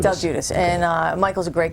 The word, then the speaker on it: Del Giudice: And I'm glad I didn't know how to pronounce that. Yes, Del Giudice. Del Giudice.